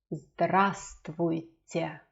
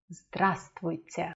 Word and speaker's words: Здравствуйте: This V is silent. Здравствуйте. Здравствуйте.